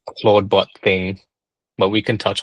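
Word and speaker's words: Clawdbot: Um, there was this like over the weekend basically there's this new sort of like AI open- source AI agent called Claudebot. It's spelled claw like c l a w bot.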